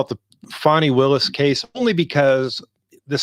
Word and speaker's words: Fani: The funny part is some people call her Fanny, but I think it's most people are pronouncing it Fani, so that's what we'll go with.